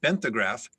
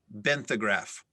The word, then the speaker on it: benthograph: at great depths the television crew used a benthograph to obtain photographs of the sunken ship and the surrounding debris field there are no alternate pronunciations could you say it again benthograph benthograph benthograph and you said there's no pronunciations